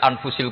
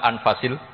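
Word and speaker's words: أنفس: Di sini ditulis anfusil kutub. Kalau saya baca anfasil kutub karena maknanya kitab terbaik. Kalau kitab terbaik bacanya bukan anfus tapi apa? Anfas.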